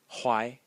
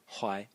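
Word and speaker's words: 淮: The next character is pronounced Huai. Huai.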